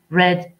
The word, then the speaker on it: read: Alors, la troisième colonne de read, la deuxième et la troisième colonne de read s'écrivent comme read, mais se prononcent comme la couleur rouge. Read, red, red.